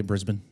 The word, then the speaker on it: Brisbane: Did I say it correctly, by the way, Brisbane?